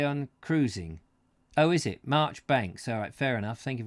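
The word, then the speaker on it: Marjoribanks: madness madness it's pronounced Marchbanks like the Kenneth Williams character and carry on cruising oh is it Marchbanks alright fair enough thank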